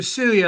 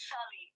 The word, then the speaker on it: Shelly: you said you were Celia. I saw nothing about Sonny, so that's why I was No, it's surprised. Shelly. It's just Shelly. Celi. So it's Shelly. I'm pronouncing it wrong.